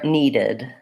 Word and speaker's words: needed: element and then lastly when I add Edie to verbs that end in a t sound or a D sound I end up with the syllable in so for example I can't say what and then add a T or D without adding another sound so wanted looks like